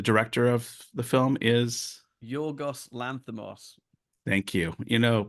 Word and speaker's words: Yorgos Lanthimos: Yorgos Lanthimos. Thank you.